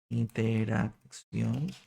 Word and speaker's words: interacción: Interacción con el teclado. Así que interacción con el teclado. Interacción. Acento en la O.